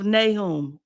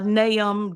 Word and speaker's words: Nahum: God gave me was in the book of naom a naom depending on how you want to to pronounce it and so if